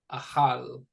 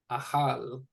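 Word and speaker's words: אכל: And so this word right here is pronounced ahal. Ahal. It means to eat.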